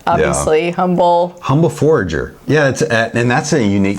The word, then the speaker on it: Forager: But and then with also Humble Forager. Am I saying that right? Forager. You always get words right. You never look to me for words. I mispronounce everything. No, it's forager, like you forage for food, or it's a forager.